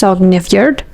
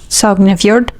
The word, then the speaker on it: Sognefjord: Experts are still evaluating whether some fjords, like I believe it's pronounced Sognefjord. Sognefjord.